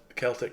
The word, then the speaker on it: Celtic: what's in here s Celtic cross necklace um I want to say Celtic cuz that's the name of the football team and it's spelled the same a flint lock carbine